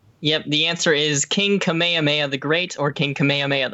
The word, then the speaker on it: Kamehameha: equal amount of time being a pervert so Kamehameha yep the answer is King Kamehameha the great or King kamehame the first give